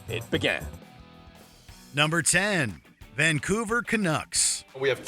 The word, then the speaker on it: Canucks: mispronunciations during the segment the reporter said Bruce bodro instead of Buro touit instead of Rick tet and most famously kuks instead of Canucks we guess these are